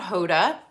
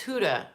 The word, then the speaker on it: Huda: this as my uh it is huda it's not hoda it's huda i think please let me